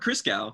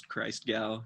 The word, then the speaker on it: Christgau: That's how it's pronounced? Robert Christgau.